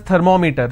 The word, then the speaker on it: thermometer: We all pronounce this as thermometer. Thermometer. It's not thermometer. It's thermometer, right?